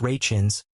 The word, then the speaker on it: Rachins: For his parts on the two shows, Mr. Rakins, pronounced Rachins, gained widespread recognition after decades of trying to make a name for himself as an actor.